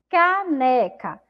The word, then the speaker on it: caneca: Essa sílaba é formada aí pelas letras C e A, mas ela tem um som de K, né?